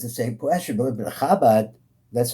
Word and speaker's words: Chabad: Everybody says the same question, but Chabad, that's how we pronounce it.